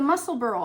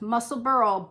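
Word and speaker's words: Musselburgh: Jane Flannery hi Jane um she recommended the muscle Burl hat and it is pronounced muscle Burl but it is spelled muscle Burger Burg at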